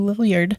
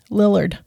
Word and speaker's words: Lillard: so there's your matthew lilliard and matthew brings it on into nowhere we still say it wrong lillard matthew lillard i know i can't do